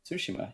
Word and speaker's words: Tsushima: Tsushima. Yeah, Okay, I've heard yeah. Tsushima. I've heard not sashimi, but it feels like every time I hear it, I want to say that. Okay, Tsushima.